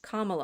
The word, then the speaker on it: Kamala: Kamala, Yeah.